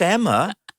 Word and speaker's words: Emer: I mispronounced your name. I was convinced it was Emer.